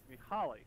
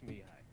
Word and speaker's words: Mihai: Mihaly, isn't it? Did Mihai just crash? It's pronounced Mihai.